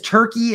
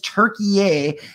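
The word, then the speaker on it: Türkiye: now turkey okay like for a hundred years we've known this country as turkey and now it is turkey and that's how you're supposed to pronounce it um I didn't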